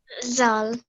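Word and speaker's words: ذال: I've been saying that this is not Z sound like in English yeah it is you have to put your tongue sorry yes your tongue in between your teeth van like that can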